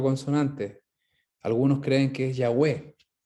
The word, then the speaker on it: Yahweh: Algunos creen que es Yahweh. Es la forma de pronunciar, la I, la H, la W, Yahweh.